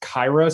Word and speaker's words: Kira: his name is pronounced kaira so it it's it's more similar to kyrie than it reads yeah because i think most people say kira lewis and then that